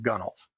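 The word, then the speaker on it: gunwales: It's pronounced gunnels. But it's spelled gun whales. I have no idea what the word means or why they pronounce it the shorthand version, but it's called gunnels.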